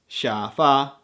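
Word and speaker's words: 沙发: original words for example coffee is cafe bikini is bigini and sofa is shafa the same goes for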